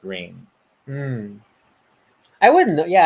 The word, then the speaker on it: Rahne: for the longest time I kept thinking her name was Rani Sinclair, Okay. only to learn later on everyone else pronounced it Rain. Hmm. I wouldn't know. Yeah, I wouldn't know. It's like Rahne.